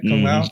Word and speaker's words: Kung Lao: Did I pronounce his name right? Kung Lao?